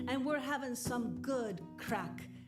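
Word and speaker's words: craic: we're having some good crack okay now crack is different in the united states than it is in ireland so it's it's spelled c-r-a-i-c and it means fun or good times but i'll have to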